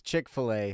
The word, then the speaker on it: Chick-fil-A: It's Chick Fil A. Yeah, right? Chick-fil-A. But that's You know, not as a kid, spelt I right thought it though. was Chick fillet, Fil A but is spelled FIL apostrophe A.